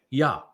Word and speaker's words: Yahweh: And haya tells you how to pronounce the ah, the he, and the yod. It's Hi Yah. So the first two letters in Yahweh's name would be Yah, Hi Yah.